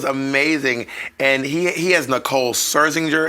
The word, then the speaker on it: Scherzinger: And he has Nicole Scherzinger. Is that how you say it? Yeah, Scherzinger.